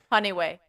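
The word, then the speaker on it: Janiuay: Okay, we were like, is this January without the R? And we were just like, our minds could not wrap around how to say it. Like we were just looking at it, and it's like Jan what? It's like, no. Honeyway.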